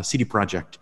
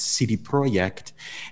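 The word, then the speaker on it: CD Projekt: and i said uh cd project and i don't know what that is and i repeated it because i remembered i'm saying it wrong it's cd project and uh and then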